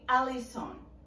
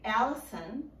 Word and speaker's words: Allison: common for people to call me alison alison i have no problem with that in fact sometimes i will introduce myself with that pronunciation why because even though i say allison here in the states that can be difficult